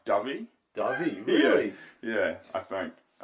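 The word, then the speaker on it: Dyfi: cuz that's part of the defy is it defy so how they say yeah oh it's it's pronounced dubby dubby yeah yeah I think yeah Davi Davi yeah it's Welsh yeah but it's not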